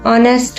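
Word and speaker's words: honest: Apple N orange N एिफेंट एन ऑनेस्ट मैन। अब देखिए ऑनेस्ट में जो होता है एच साइलेंट होता है तो ओ ओ साउंड आ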